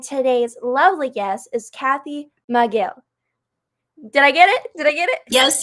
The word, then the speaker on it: Micheel: It's Micheel. Looks like Michael with 2 E's.